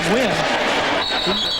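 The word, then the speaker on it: Nguyen: I said, that the way you spell your name in Vietnamese, and you can pronounce it Win. I said, did you just pick a name or pick a pronunciation? He said, no, that's really the pronunciation, the way it's pronounced in Vietnamese.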